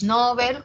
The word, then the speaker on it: Nobel: Pero si atiendo a lo que dice el DPD, al Diccionario Panhispánico de Dudas, me dice, sí, Nobel como grave está extendido su uso, o sea, está muy usado.